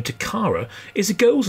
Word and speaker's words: Takara: The Takara motto was "Playing is culture," and the name Takara is a girl's name of Japanese origin, meaning treasure or jewel.